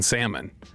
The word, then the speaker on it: salmon: the Yeti cooler, and I did not realize that Broadus pronounces the L in salmon.